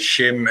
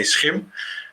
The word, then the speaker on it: SCHiM: Yeah, and there's a couple of pronunciations that are correct, because shim and skim are also okay, because internationally it's a bit hard to say SCHiM.